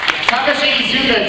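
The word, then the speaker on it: Takashi Iizuka: tekashi UDA There Is Tashi isuka yes yes Takashi isuka joins the team or joins the brawl if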